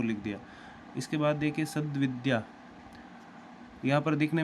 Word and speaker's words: सद्विद्या: अब देखिए आधा पूरा पहचानेंगे कैसे, जब हम इसका उच्चारण करेंगे, बोलेंगे, तो सद्विद्या, द आधा उच्चारित हो रहा है, तो जो बोला जाता है वो सही है।